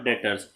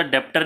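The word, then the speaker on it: debtor: पहला एग्जांपल हम इसका समझते हैं बेटा, डेटर्स। डेटर का मतलब होता है, इसमें बी नहीं पढ़ते बेटा, डेप्टर नहीं प्रोनाउंस करते, इसको डेटर पढ़ते हैं।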